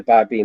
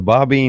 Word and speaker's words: Babi: the Bobbine movement? Babi, Babi, Babi. Thank you. It's like Christian is from Christ, okay, or Buddhist is from Buddha.